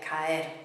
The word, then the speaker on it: caer: But it's a two-syllable word. Root, ca, ending er, caer, caer.